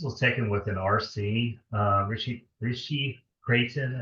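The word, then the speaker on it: Ritchey–Chrétien: This was taken with an RC, Rishi Creighton, I think is the way it's pronounced, telescope.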